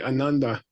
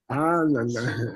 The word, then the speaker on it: Ananda: If you say Ananda, a lot of Americans say Ananda, which means Mr. Unhappy. And Ananda means Mr. Super Happy. So which one is it? Ananda.